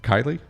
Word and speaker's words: Kiley: butcher your last name Kylie that's correct he nailed it got it Kylie